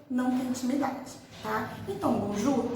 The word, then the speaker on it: bonjour: Bonjour é uma exceção daquela regra que eu falei, né? Porque nesse caso a gente pronuncia esse Rzinho do final, tá? É bonjour.